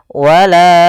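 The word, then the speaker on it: ولا: Wala baru baca a. Panjangkan la-nya dulu 4 harokat baru lepas. Wala wala.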